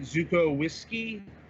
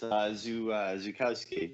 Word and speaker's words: Zukowski: Is it Zukowski? No, close. It's Zukowski.